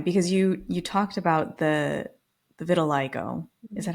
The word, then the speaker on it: vitiligo: And I also, during this time, because you talked about the vitiligo, is Mhm. that how you pronounce it also?